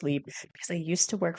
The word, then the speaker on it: Libre: Not Mon Paris Libre, And yes, it is pronounced Libre, cuz I used to work for YSL, and I used to love correcting people on that.